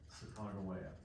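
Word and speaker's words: Sacagawea: a woman named uh most people pronounce it sia the natives would have pronounced it Chicago way so sometimes you'll hear modern historians say Chicagoa they're trying to pronounce it correctly made it but they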